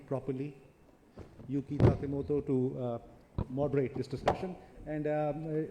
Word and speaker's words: Yuki Takemoto: I have learned over years to pronounce her name properly. Yuki Takemoto to moderate this discussion.